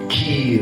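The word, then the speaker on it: χείρ: Quand on dit main, ça vient du grec chair, C-H-E-I-R, qu'on prononce kir ou bien quoi.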